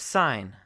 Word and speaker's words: sign: So the letter G is silent oftentimes when it is next to an N sound. So we have sign or gnome.